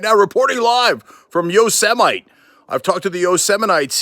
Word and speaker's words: Yosemite: parks that we have, including Yosemite or Yosemite. Okay, no, that's not how it's pronounced.